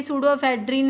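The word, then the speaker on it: pseudoephedrine: तो ये सूडोएफेड्रिन है इसका, तो सूडाफेड, तो इसको जैसे इसमें पी साइलेंट है, सूडोएफेड्रिन को ऐसे सूडो ही बोलते हैं ना, सूडो से प्रोनाउंस करते हैं इसको, तो इसको या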